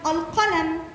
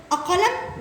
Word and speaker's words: القلم: طب اقول كلمه مثلا القلم، ينفع اقول اقلم والغي دي؟ لا. يبقى اللام القمريه تكتب وتنطق. حلو كده، تكتب وتنطق.